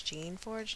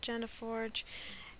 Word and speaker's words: Geneforge: Yes, I got all the messages you guys sent me saying it's Jean Forge, not Jenna Forge.